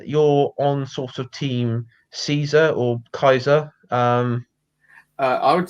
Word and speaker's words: Caesar: Yeah, I, I actually heard, wasn't it that the true pronunciation, wasn't it, originally Kaiser? yeah, because Caesar I think comes from more modern Latin or modern Italian, and they didn't have a pronunciation for C as in Caesar. It was more K. Yes, Every C was a hard K or hard yes, C.